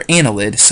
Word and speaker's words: annelid: and Anela did or annelids Arya nila did annelid is how you say that I'm sorry Ana lid